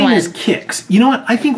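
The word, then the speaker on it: Kicks: Kix. Which is spelled K-I-C-K-S, not K-I-X, like the cereal.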